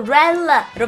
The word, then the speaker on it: relative: 릴레 아니고요. 릴레 아니고 렐라로 발음하세요. 렐라로 발음하면 어떻게 됩니까? 그렇죠. relative가 되겠죠.